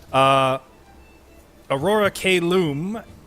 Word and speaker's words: Aurora Caelum: Aurora Caelum has escorted Ismark and Irina Kolyanovich to the town of Vallaki through the dangerous hills and Valachi woods of Barovia.